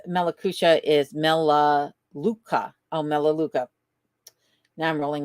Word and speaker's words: Melaleuca: Melaleuca. Melaleuca. Oh, my goodness. My pronunciations are so bad.